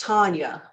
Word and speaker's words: Tanya: my name is pronounced Tanya unfortunately it's more like Tanya Harding for those of you that know not so much like Tanya Tucker who is actually one